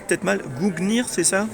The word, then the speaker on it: Gungnir: Et alors Dan, notamment tu as 2 livres sur, alors je le prononce peut-être mal, Gungnir, c'est ça? Gungnir, ouais.